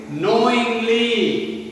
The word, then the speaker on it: knowingly: Sixth one is knowingly. Knowingly. K-N-O-W-I-N-G-L-Y. Knowingly. K is silent in this word.